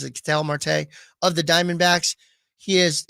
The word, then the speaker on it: Ketel Marte: The next best one, Ketel Marte or Ketel Marte, however you want to pronounce it. I've always pronounced it Ketel Marte of the Diamondbacks.